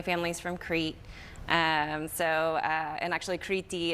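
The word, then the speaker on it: Κρήτη: And actually Kriti is the Greek pronunciation of Crete.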